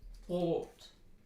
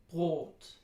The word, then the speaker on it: Brot: This is the vowel in Brot, Brot, Brot. And it kind of rhymes with the word goat that we have in American English, but you probably know better by now that they're not exactly the same.